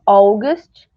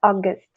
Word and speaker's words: August: como é que fala alguns sotaques que falam August mas não é muito comum então tentem falar August sem o u do começo os dias dos meses